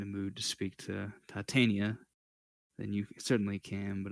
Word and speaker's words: Titania: __ ] that up technically it's pronounced titania but that's not a